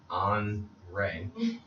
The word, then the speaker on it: OnRae: That was more music from OnRae. I said it right this time, right? OnRae. It's not OnRae? OnRae. My homie for a second. You said it's like Andre without the D.